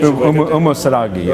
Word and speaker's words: Umusadegi: Is it pronounced Umusadegi? Umusadegi.